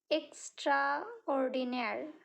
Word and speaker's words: extraordinaire: next one extraordinaire extraordinaire is a word borrowed from French pronounced in English extraordinaire okay it is used